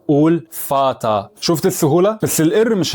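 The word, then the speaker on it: Vater: غوت غوت يعني احمر ولو جت في اخر الكلام انسى انها موجوده اصلا وافتح الحرف اللي قبلها زي كلمه فاتا فاتا ما تقولش فاتر قول فاتا شفت السهوله بس الار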